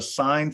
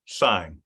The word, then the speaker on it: sine: Now this is a sine function, not sin, sine. All right. I know it's spelled like sin, cos, and tan.